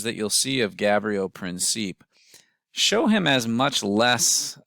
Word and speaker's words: Princip: by the name of Gavrilo Princip, or Princip, as he's sometimes referred to. I tend to pronounce his last name Princip.